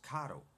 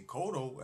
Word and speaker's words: Cotto: Coto oh okay this is why I say my name is Catoe now you can see Coto as well because I'm Puerto Rican but it comes